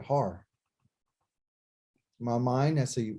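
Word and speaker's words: הר: my mind, I remember that's a H, that's a ah, and there's a R. So har. That's how you say it, har.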